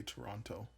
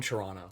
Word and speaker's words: Toronto: Are they from Toronto? Yeah, they're from here. Interesting. Well, I don't say the second T. People, they said they feel like you pronounce every letter and you say it. Toronto?